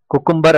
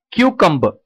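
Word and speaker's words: cucumber: குக்கும்பர் அப்படின்னு சொன்னோம்னா அது தப்பு. கரெக்டான pronunciation கியூகம்பர். So easy, it's a three syllable word. திரும்ப பாருங்க, கியூ கம் ப. அந்த ஆர் சவுண்டை வந்து நம்ம வந்து உச்சரிக்க கூடாது. ஸோ அதை வந்து பர் அப்படின்னு சொல்லாம ப அப்படின்னு சொல்லி சொல்லணும். ஸோ கியூ கம் ப, கியூகம்பர்.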